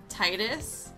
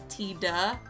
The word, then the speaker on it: Tidus: and that is that i call him titus i know there's a lot of speculation as if it's titus titus because his name in japanese is tida but they never say his